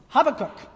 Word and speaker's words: Habakkuk: at the retreat and ashley was the first one that said with confidence habakkuk so i'm pronouncing it ashley's weight this morning but knowing that